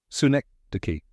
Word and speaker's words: synecdoche: Si-NEK-duh-kee. It's pronounced si-NEK-duh-kee. Let's break it down. Si like sun without N. Rhymes with neck. Duh-kee, soft and smooth.